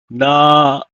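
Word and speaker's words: נַעֲרָה: Those with feminine gender inflection with a Comet's hey are stressed on the final syllable, like so. For instance, for young woman, it will become na-a-ra in singular form.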